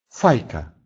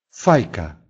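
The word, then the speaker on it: fajka: Например, «файка», «файка», «трубка».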